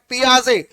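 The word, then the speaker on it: Piaget: पियाजे, लिखा होता है GET लास्ट में, बट इट is pronounced as पियाजे। वो फ्रेंच नेम है, लास्ट वाला लेटर जो है वो साइलेंट हो जाता है।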